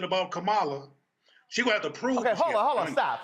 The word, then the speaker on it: Kamala: right her name is it's not kamala it's kamala so can we go ahead and get it right her damn name is